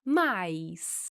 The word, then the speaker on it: mas: Podemos falar essa palavra com a pronúncia de mas, com esse sonzinho no final, ou podemos fazer um ditongo com esta palavra e pronunciar mais. E nessa situação, ela vai ter a mesma pronúncia da palavra mais, que indica uma adição.